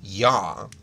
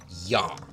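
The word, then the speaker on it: Я: the Latin alphabet no that sound is actually yaa yaa so when you see backwards R that's pronounced yah there's also another letter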